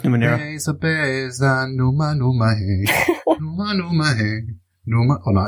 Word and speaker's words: Numenera: Yeah, but how do you pronounce it? Like Numenera. Numenera. All right, okay. Or is it Numeria? No, it's Numenera.